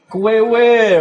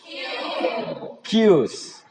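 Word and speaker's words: queues: Kwewe. Right. Good. Not kwewe, right? But you have to say Q. Tulisannya memang kwewe, tapi bacanya Q. Okay, repeat after me. Q. Q's. Because there is S, right?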